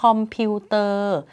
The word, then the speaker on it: คอมพิวเตอร์: ยนต์ ต เต่า การันต์ คำ ที่ 6 คอมพิวเตอร์ เขียน คอมพิวเตอร์ แต่ อ่าน ว่า คอมพิวเตอร์ เพราะ ว่า เป็น คำ ที่ มา จาก ภาษา ต่าง ประเทศ ก็ คือ ภาษา อังกฤษ นั่น เอง และ สุด ท้าย ค่ะ